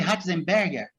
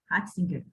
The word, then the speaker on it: Ratzinger: o Papa Francisco aqui como é que é a pronúncia do nome dele? Ratzenberger? Ratzinger, Ratzinger. Joseph Ratzinger.